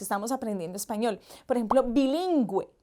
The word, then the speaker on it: bilingüe: Por ejemplo, bilingüe. Lleva los dos punticos porque lo pronunciamos con U, bilingüe.